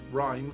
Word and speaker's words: REM: a mask that detects the REM, pronounced rhyme or rapid eye movement phase.